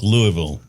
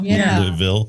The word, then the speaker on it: Louisville: Uh, well, I I like Louisville. more of a bowl, right, than a Louisville. Yeah, but both would be correct.